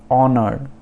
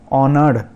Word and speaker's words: honour: तो ऑनर, HONOUR, ऑनर, ऑनर में last जो आर है उसको हम प्रोनाउंस नहीं करेंगे। तो उसके अलावा ONOU इनको जस्ट प्रोनाउंस करना है। ऑनर, ऑनर्ड ऐसे नहीं बोलेंगे, ऑनर तो मतलब इज्जत